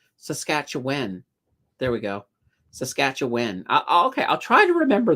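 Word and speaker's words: Saskatchewan: house um let's see I just me is pronounce when not Juan oh oh oh saskatch saskatch when there we go saskatch a win okay I'll try to remember that I'll try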